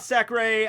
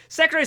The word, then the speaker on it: Secre: So, I went back to get her name pronunciation, and in the Japanese, it seems to be very clearly, like, Secre, or Sekure.